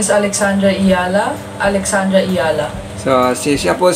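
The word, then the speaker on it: Alexandra Eala: So si Alex Ayala po, ito, paano na pakinggan natin kung paano niya binibigkas ng kanyang apelyido. My name is Alexandra Ayala.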